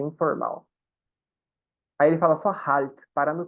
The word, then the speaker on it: Halt: mala e tá dizendo Halt, wie heißen Sie? Ó, esse H no começo, gente, igualzinho do inglês, viu? Igual home do inglês.